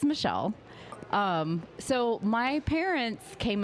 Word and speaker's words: Mechille: do you pronounce that it is Michelle um so my parents